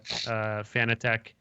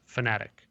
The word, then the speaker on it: Fanatec: They understand that most Americans call it Fanatec, and they've accepted that that is a pronunciation that is used. But I think the original intention, he said, was fanatic, like a fanatic, you know. But Fanatec works too.